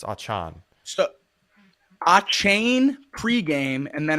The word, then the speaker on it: Achane: You have two running backs in Raheem Mostert and Devin Achane that got legitimate carries, over 40 fantasy points for both.